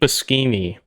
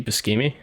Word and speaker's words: Buscemi: And then there was this Steve Buscemi comedy that seemed to have like some dark humor in it, and I was like, what is this? Wait, how did you pronounce his name? Steve Buscemi, isn't that Buscemi, Steve, right?